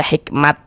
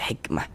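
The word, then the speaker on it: حكمة: Jangan dibaca hikmat. Jangan tapi dibaca hikmah.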